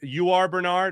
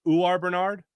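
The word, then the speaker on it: Uar Bernard: I've been saying you are Bernard. Apparently it's UR Bernard. UA Bernard the Nigerian.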